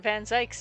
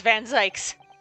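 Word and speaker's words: Van Zieks: Um, because we know that our that Vanzy is innocent. I know last time it was like Vanz. I'm not pronouncing it Vanz. Fight me. It's Van Zikes.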